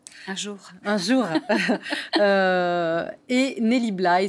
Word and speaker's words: Nellie Bly: jour un jour et nelly blaye c'est ainsi que ça se prononce dans l'antre de la